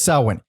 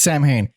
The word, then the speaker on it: Samhain: In the songs, Danzig says Samhain. Yeah. But in interviews and when discussing the band, it's Samhain.